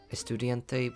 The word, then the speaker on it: estudiante: Estudiante would be more correct pronunciation for Latin Spanish, I guess.